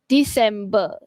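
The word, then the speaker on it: dicembre: Okey, Onyisanti dan last sekali kita ada bulan Disember tapi kita sebut disemb.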